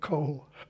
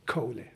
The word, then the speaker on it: Kohle: differently yeah yeah but the proper German pronunciation is Kohli okay I think it's